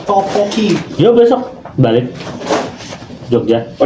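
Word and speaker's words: tteokbokki: Ini bacanya topoki.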